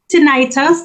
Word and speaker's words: tinnitus: Okay, yes, tinnitus, that's how I pronounce it.